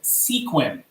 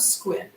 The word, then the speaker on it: Sequim: we are from squint most people who see it in our art funghi area pronounce it sequin sequin I remember okay so growing up I heard of squid and then I saw